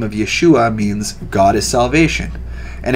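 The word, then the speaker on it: ישוע: ea soos derived from the greek transliteration of yeshua yeshua or yeshua is the name of the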